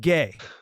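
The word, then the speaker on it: Gueye: a gentleman their Center last name spelled gu ye pronounced gay pronounced gay I mean this guy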